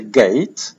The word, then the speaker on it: gate: wymawia się gate i to się rymuje ze słowem eight, czyli osiem. To mamy akurat tutaj właśnie bramę osiem gate, więc możemy sobie zapamiętać gate, że jest podobne do ósemki w wymowie.